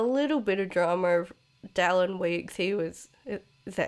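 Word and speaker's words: Dallon Weekes: And since that, there's been a little bit of drama of Dallin Weeks.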